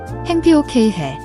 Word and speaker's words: 행복해요: Watch your pronunciation. The vowel in haeng-BOK is a single, open S sound, similar to bed in English, not I. Ensure your mouth is wide enough.